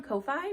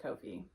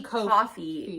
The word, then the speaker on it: Ko-fi: I do think it's pronounced Kofi. I think you're right. I didn't. You're right. The people who own it put out a whole thing because it rhymes with no fee. So it's Kofi.